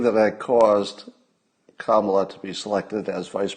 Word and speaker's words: Kamala: news joe biden picked camalleris don't call her camelot no no no she's not camelot she's kamala we must all learn to pronounce it properly it's not kamala it's not